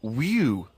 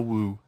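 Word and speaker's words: wewe: I read in the Fortean Times that the word whew means an ugly female ghost with drooping breasts. What do you mean? Is that how am I pronouncing that right? Who's using that word? Who is using that word? It was just W-E-W-E. Let's call it a woo.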